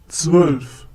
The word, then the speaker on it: Zwölf: Zwölf. Once again, zwölf. Well, letters with umlaut, in this case O with umlaut, has no equivalent in English.